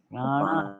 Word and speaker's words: prana: these words so correctly, because she read it as Sanskrit is read, right? And in Sanskrit, what happens in Sanskrit? Pran, Prana, pan. apana, vyana, samana, and udana.